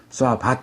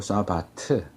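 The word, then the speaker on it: שבת: 쏘아 바트 이렇게 합니다 뭐 싸 바 이렇게 발음 하는 사람들도 있는데 그건 잘못된 발음 이에요 히브리어 에서는 l m n 외에는 다 침으로 사용하지 않습니다 그러니까 웃어 바 타면 안되고 써 바트 수와 봤지 이 단어가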